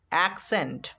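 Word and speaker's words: accent: সি এর পরে যখনই ই চলে আসবে তখন সেই সি এর উচ্চারণ হবে দন্ত স।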